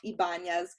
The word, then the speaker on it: Ybanez: strategist for network marketers my last name's crazy it's pronounced ibanez i don't blame you